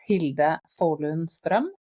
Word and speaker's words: Hilde Fålun Strøm: So the way I pronounce it, it's Hilde Fålun Strøm.